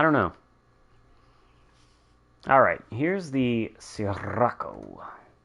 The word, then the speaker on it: Sirocco: Alright, here's the Sirocco. Fun word to say. I don't think you need to roll your R's, though.